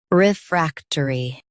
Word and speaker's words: refractory: Refractory. Emphasize frac and soften turi.